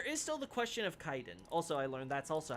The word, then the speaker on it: Kaiden: knife catacombs there is still the question of Kaiden also I learned that's also how you pronounce that I was like look at the Japanese I'm like oh it's Kaiden at least uh godivor is similar to the